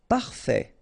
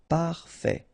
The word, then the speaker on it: parfait: Parfait. Final T not pronounced. Parfait.